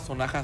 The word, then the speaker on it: Sonaxa: Sí, estamos en Facebook como Sonaja Son, @Sonaja Son, es SONAXA, Sonaxa, pero se pronuncia la X como la J en México, Sonaja.